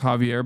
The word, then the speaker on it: Xavier: Xavier is pronounced Javier by the way.